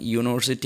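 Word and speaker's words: university: അതുപോലെ യൂണിവേഴ്സിറ്റി, മറ്റൊന്ന് യൂണിവേഴ്സിറ്റി നമുക്കറിയാം യു എന്ന ലെറ്റർ കൊണ്ടാണ് യൂണിവേഴ്സിറ്റി എന്ന വാക്ക് തുടങ്ങുന്നത്. എന്നാൽ യു കൊണ്ടാണ് യൂണിവേഴ്സിറ്റി എന്ന വാക്ക് തുടങ്ങുന്നത് എങ്കിലും യു എന്നതിൻ്റെ വവ്വൽ സൗണ്ട് ശരിക്ക് ആ എന്നാണ്.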